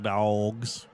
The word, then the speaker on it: Dawgs: Although it is spelled the W's. I think that's more like dogs.